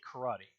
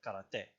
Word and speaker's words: karate: Like here in English, for example, we say karate. In Japanese, we more like karate.